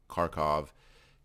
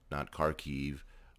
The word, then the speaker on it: Kharkiv: So I've always known it as Kharkov, Kiev, not Kharkiv or Kiev, because I was used to the Russian pronunciation.